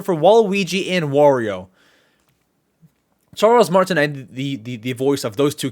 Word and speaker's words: Martinet: But Charles Martinet, that's how you say his name.